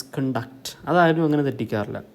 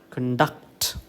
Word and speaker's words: conduct: ceo and uct is conduct okay i'm going to already conducted you know okay the stress falls on the second syllable conduct okay whereas in a